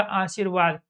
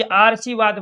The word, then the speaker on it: आशीर्वाद: तब इसकी काउंटिंग यहाँ होगी, तो ये बनेगा आशीर्वाद। अगर मैं इसके ऊपर यहाँ लगा देता हूँ तो ये उच्चारण कहाँ होगा, ए, आ के बाद है, तो ये आरसीवाद बन जाएगा।